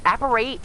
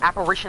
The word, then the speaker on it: apparate: don't know uh but apparate was is the correct pronunciation of that word but Apparition is also the correct pronunciation but I always thought it